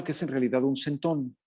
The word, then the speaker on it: centón: es en realidad un centón, o un centón para pronunciarlo como lo pronuncian los españoles.